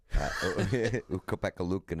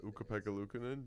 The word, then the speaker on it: Ukko-Pekka Luukkonen: Yes, the NHL dropped another one of those pronunciation guides. Ukko-Pekka Luukkonen is back in it.